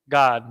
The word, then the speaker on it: Gad: just two characters and it's pronounced God not God like in English when we say like